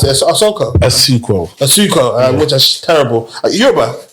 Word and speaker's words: Asuquo: How do you pronounce it? Asuquo.